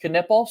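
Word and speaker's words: Knueppel: um season and K canle had some fun quotes after the game after the fact letting the record be known that it is pronounced canle so hopefully we can all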